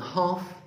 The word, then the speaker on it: half: half past، وخلي بالك ان half برضو اللي هنا silent، تكتب ولا تنطق.